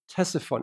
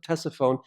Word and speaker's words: Ctesiphon: One of its great capitals is along the Tigris River, and it's called Ctesiphon. Actually, we pronounce it Ctesiphon. It was originally pronounced Ctesiphon.